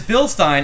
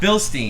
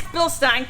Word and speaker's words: Bilstein: series shocks it is bilstein it is not bilstein it is bilstein kevin corrected me because i pronounced it wrong one time anyways these